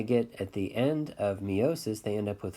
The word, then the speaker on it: meiosis: But after they go through mitosis, eventually they go through meiosis, or some people pronounce it meiosis, either way. But meiosis has two sets of divisions.